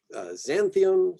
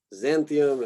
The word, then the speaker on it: Xanthium: Xanthium, so this usually gets kind of a Z sound. Xanthium, and I think I hear this one usually said Xyrus.